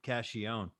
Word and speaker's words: Cacchione: you before we started caccione or cachione well the real way is but when we got to this country we stopped we stopped saying that all together we all say cashion you know for years